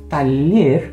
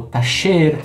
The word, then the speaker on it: taller: Bom, então como eu falei, taller ou tacher, taller, depende da região também, que nós temos o la doble e, la e. Você pode ter pronúncia diferente, significa oficina, tá?